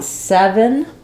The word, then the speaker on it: seven: reduce vowels in words in seven my first letter e is a clear vowel it's stressed I hold it longer it's just like um in the word set or get get seven and then for my second syllable it's basically either a little uh sound a little I sound are almost no vowel and just going right from V to n v seven seven this